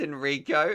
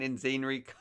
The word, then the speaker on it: Enrico: gosh you're telling me your name is enrico and i've been saying in scenery oh pronunciation pronunciation thanks